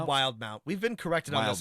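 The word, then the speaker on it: Wildemount: Mount and I think it's just got an extra e because Matt MCA thought it looked cool so just because just because the way that English works it wouldn't be pronounced that way we we'll say it wild Mount wild Mount uh and uh Rob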